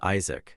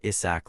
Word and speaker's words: Isaac: A trembling servant called out his name, but completely mispronounced it, causing him to sigh and remind them that his name was Isaac, not Isach like they kept calling him.